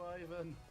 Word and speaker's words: Ivan: Screw you, Ivan. Fuck you, Ivan. It's pronounced Ivan. Fuck you, Ivan. Like Ivan the Terrible. Fuck you, Ivan. Or Ivan Drago.